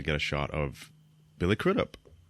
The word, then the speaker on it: Crudup: a shot of Billy crudup how do you say his name um what did you say crit up there you go okay we got a